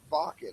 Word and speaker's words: Wacken: And they played at Bakan, it's spelled Wacken in Europe.